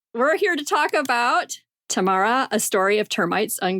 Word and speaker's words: Tamarra: We're here to talk about Tamarra, a story of termites on Gurindji country. Did I say that right? So Tamarra is the way to say it. My understanding is, like a d. So Tamarra, Gurindji country.